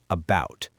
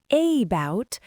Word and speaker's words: about: We do not say about, we say about. The stress is on the second syllable, bout. Because the first syllable is unstressed, that letter A turns into a lazy schwa, about.